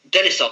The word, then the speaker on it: Denisov: Denisov, that's the one.